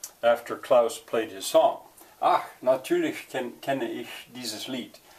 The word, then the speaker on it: Ach: Well, that A, you know, an American looking at that would say atch. Spelling for pronunciation. I thought about spelling it with a double A, ach, ach, but I don't know, that seems like that would be tedious, because in German you never say ah.